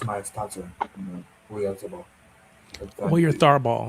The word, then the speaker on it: Oyarzabal: Or your Tharball. It's a Or your Tharball. Your it's Sabah. Oyarzabal. For me, I Yeah. pronounce it Oyarzabal.